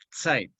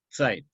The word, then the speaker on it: Zeit: Zeit se escribe en alemán con Z, se escribe Zeit, se pronuncia Zeit. La Z en alemán suena TS, Zeit.